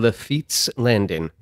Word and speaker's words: Lafitte's Landing: I am sitting down in Lafitte's Landing. Where am I? For clarification, Lafitte is spelled L-A-F-I-T-T-E apostrophe S.